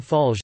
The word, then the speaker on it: Fallières: Clement Armand Fallières, French pronunciation, M. Falge, the 6th of November 1841 to the 22nd